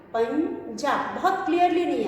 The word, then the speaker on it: पंजा: उसके बाद अगला शब्द है पंजा। पंजा प पर बिंदी पन ज पर आ की मात्रा पंजा, पंजा। यहाँ पे ध्वनि आ रही है इया की, पंजा।